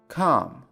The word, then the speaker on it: calm: Calm. Calm. Calm. دقت کنید در این کلمه ال تلفظ نمیشه.